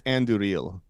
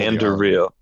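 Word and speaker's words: Andúril: I think it's Anduril. Like you're supposed to roll Anduril. Anduril. Okay. So it's of course, as we all know. No, I'm just kidding. So Anduril is reforged from the sword that was broken.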